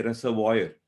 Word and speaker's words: reservoir: many words for example words ending in oir as in reza war so we we say reservoir a dam where water